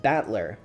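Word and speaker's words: 戦人: the characters for fight and person and it's pronounced batler put it all together and you've got usid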